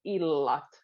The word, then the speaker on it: illat: If it would just be one, it would sound illat. So we'll put double L, illat, and that means nights.